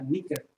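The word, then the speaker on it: νίκη: palomita Nike o Nick en griego se pronuncia niker niker un niker sabe no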